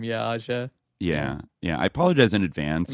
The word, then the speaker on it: Ağca: Ağca. Yeah, at least it's the last name. Yeah, Ağca.